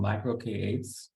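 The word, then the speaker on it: MicroK8s: around kubernetes uh I've been using something called micro k8s um that's how you pronounce it it's basically you have kubernetes running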